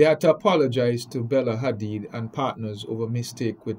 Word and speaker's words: Hadid: It's pronounced Hadid, yeah. Like you said fast, Hadid.